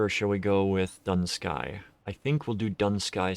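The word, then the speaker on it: Dun Scaith: specifically but um yeah a lot of people will pronounce the th when it's just not there but while we're waiting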